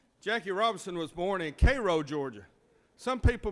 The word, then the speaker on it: Cairo: single him out jackie robinson was born in cairo georgia some people mispronounced it as cairo georgia but here in georgia is cairo he was the son of millie and jerry